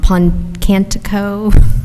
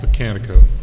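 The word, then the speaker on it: Pocantico: And just FYI, Dan, I attended an environmental thing at I always pronounce this wrong, Puncantico. Is that how you pronounce it? Puncantico? Botanico.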